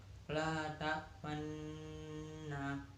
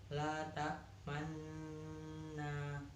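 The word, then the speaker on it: لا تأمنا: La ta'manna, bacaan ismam. Cara membacanya mencampurkan bacaan domah dan bacaan sukun disertai dengan gerakan mulut yang dimajukan seperti saat mengucapkan huruf u. La ta'manna.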